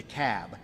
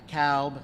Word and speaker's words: Cobb: the room it's the cab not to cowb not the cobb it's the cab so we got to pronounce these things doherty another one of those where albini is they're 74.